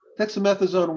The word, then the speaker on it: dexamethasone: And so that, I guess the question is about, she said dexamethasone. I don't know how to pronounce that.